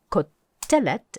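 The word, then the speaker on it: קֹטֶלֶת: only new form is ko telet and you want to hear that accent on the middle syllable called telet make sure you can say that with the accent in the middle but apart from that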